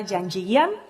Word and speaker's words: Janjigian: Elena Janjigian. I have pronounced it well.